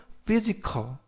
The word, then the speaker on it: physical: 지역이 아닙니다라는 의미가 되겠습니다 이번 표현은 ph가 F 발음이납니다 그래서 피지컬 품사는 형용사구요 뜻은 신체의